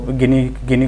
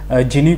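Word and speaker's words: Gini: जाता है okay so गिनी coefficient बोलते हैं उसको सम टाइम लोगों को मैंने इसको जिनी कॉएफिशिएंट बोलते हुए भी सुना है बट आप कुछ भी प्रोनाउंस कर लो कोई दिक्कत नहीं पड़ता और लास्ट में हम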